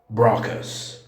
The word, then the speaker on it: Broca's: والاسم العربي الفرنسي ينطق مرات Broca's. Broca's. Broca's. وسبب انه هنا فرنسي يعني تكون مرتين لو نطق بالفرنسي صحيح يعني بغاكا بغاكا يعني الار يا اما غين يا اما خاء الفرنسي. 3.